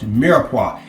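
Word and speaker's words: mirepoix: if I don't I am sorry but it's pronounced miraa and it is the combination of onions celery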